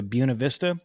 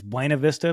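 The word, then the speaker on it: Buena Vista: I used to drive from Salt Lake City to Buuna Vista. On a map, you would read it as Buenav Vista, but I know the locals say Buuna, so I'm trying to sound authentic.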